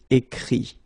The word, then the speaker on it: écrit: Écrire, to write, will become écrit. Okay, remember that phonetically this final T doesn't exist. Okay, so the sound will be only this I, écrit.